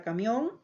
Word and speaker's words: camión: Tenemos la palabra camión, la palabra compás, la palabra champú. Si nosotros observamos estas tres palabras que tenemos en pantalla, son aquellas que tienen su mayor fuerza de voz en la última sílaba.